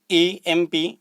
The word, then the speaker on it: MP: However, the pronunciation of that word is EMP.